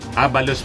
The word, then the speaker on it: Abalos: sabi po ni bhor Abalos Abalos pala ang pagpronounce nian bor Abalos Hindi ko